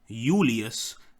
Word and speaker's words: Julius: now with the J the J would become a y in Latin so it would be uh Julius Julius kaare um and this is